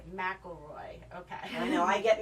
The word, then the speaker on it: McElroy: McElroy. McElroy.